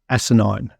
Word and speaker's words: Asinine: welcome to Hardware Road and welcome AKA asinine am I pronouncing that correctly yep that's perfect all right